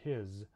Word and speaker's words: his: So, for example, we have some common words like is, was, hers, and his. These are all spelled with S, but we actually pronounce them with a Z sound in English.